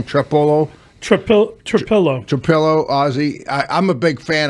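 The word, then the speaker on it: Trapilo: Is that how you pronounce his name? Trapillo? Trapillo, Ozzy.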